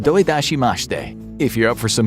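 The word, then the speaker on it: どういたしまして: to say you're welcome in japanese which is pronounced doidashimashte if you're up for some more foreign language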